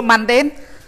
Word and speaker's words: mundane: mandan ប៉ុន្តែថ្ងៃមុនកណាញ៉ៃមេដល់កូនអត់ប្រាប់កណាថាដល់កូនគ្រូខុសហ៎អត់មានប្រាប់មើលគ្រូលឿនវិញប្រាប់ដែរមើលអញ្ចឹងដល់កូនខុសហ៎កណាគាត់ច្បាស់ហើយលើកមុនត្រូវដល់ពេលនិយាយលើកទី2មកគិតកាត់មកគាត់ថា worldly លោកកៃដល់ mandan លោកគាត់ត្រាក់ម្ដែលខុសអាកន្លែងហ្នឹងកណារំលឹកឡើងវិញអញ្ចឹងកែតាមពិតដូចគុណយើងគាត់ត្រូវទៅលើកមុនលោកយៈបានន័យថាម៉េចដូចគុណអូខេ you know mandan is correct right mandan m u n d